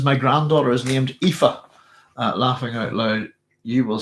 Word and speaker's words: Aoife: So I actually thought her name was Ioife. And I asked her, I didn't say I asked her to get her to pronounce her name. And I was, because it doesn't look like Eve, does it? So it's Aoife, I believe.